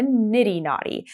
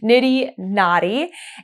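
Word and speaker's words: niddy noddy: I have been semi in need of a nitty naughty and it is spelled n i d d y n o d d y nitty naughty and it is a tool to um scan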